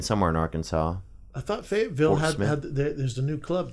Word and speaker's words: Fayetteville: Fayetteville? How do you say it? Fayetteville? Or Fayette? You could say Fayetteville.